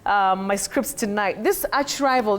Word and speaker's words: archrival: This archrival, do you say archrivval or archrival? But that combining form, the combining form a r h that is ch you say arch in that word. Arch rival. Okay. Arch bishop. Arch diosis. You don't say ark. Ark. No. For that word.